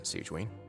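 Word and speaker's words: Sigewinne: for you but thank you for your concern siegeween between okay that's how you say it allow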